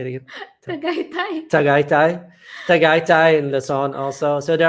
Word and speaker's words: Tagaytay: Tatite. How do you say it again? Tagaytay in Luzon also.